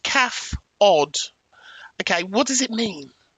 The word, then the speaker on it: CAFOD: Pronounced calf odd.